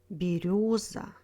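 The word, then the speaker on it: берёза: Зеленый, береза, вертолет, мотылек.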